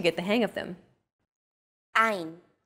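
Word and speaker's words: עין: Three of these letters are pronounced deep in the throat. These may feel unusual at first, but are fun to say once you get the hang of them. Ein, chet.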